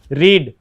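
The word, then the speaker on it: read: third form तो इसमें main व किया है रीड रीड की थर्ड फॉर्म क्या होती है तो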